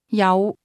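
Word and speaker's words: 有: Yao. The word have is pronounced with a low rising tone.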